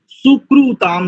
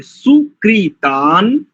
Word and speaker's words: सुकृतान्: हमारी रवि जी और कई सारे सदस्य हैं ना जो गुजराती और इधर के क्षेत्र से, सुकृताम नहीं करेंगे, सुकृतान, सुकृतानि संतु शन्न इशिरो अभि वातु वातः।